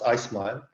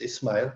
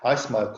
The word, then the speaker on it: Ismail: working on my name my name is a smile and pronunciation is very different in different countries some of my friends say I smile and different way and one genius that came out with an ice melt concept so we started to